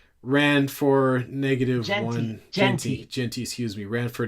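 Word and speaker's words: Jeanty: Um, and Ashton Jenty, I got to say his name right. Ran for negative one. Genty.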